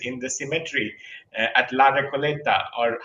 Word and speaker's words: Recoleta: Like I was looking for Borges in the cemetery at La Recoleta, or how do you pronounce it? La Uh, Recoleta, sí.